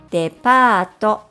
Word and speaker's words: デパート: Departo or department store.